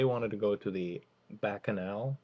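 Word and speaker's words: Bacchanal: to go to the bakanal I think that's pronounced bakanal Buffet which if you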